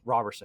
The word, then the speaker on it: Roberson: I said it wrong at the top of this, and as soon as the words came out of my mouth, I'm like, I pronounced it wrong. Roberson. It's a confusing one.